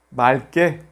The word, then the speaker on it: 맑게: Si hay la consonante k, luego enseguida se pronuncia la primera consonante l. Por ejemplo, 맑게, 맑게 significa diáfano.